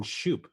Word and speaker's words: Schoop: either Oh actually yeah I do it's Jonathan Schoop oh yeah you sure yeah there it is